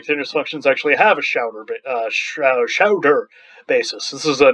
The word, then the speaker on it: Schauder: Does the set of continuous functions actually have a Schauder basis? This is a name. Schauder is probably the right way of pronouncing it, but I'm going to say Schauder.